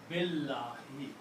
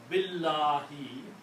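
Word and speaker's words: بالله: The meaning is that do not pronounce alif. Do not pronounce alif. Pronounce Billahi. Okay. So that is in writing we put a little sword. In pronunciation we do not pronounce at all. We combine B with the lam. Billahi, and alif has a little sword on it. So the word is now Billahi.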